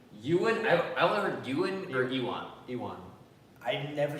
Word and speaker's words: Ewan: yeah you called him I've never heard anybody pronounce his name human you and I only heard Ewan or Ewan ewon I never said you want because that sounds like what we want E1